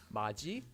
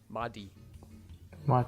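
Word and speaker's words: 맏이: pronounced as kachida and third whenever you have a t-gut before the sound e the e sound becomes pronounced as g for example this word would be pronounced as maji and not madi you might be thinking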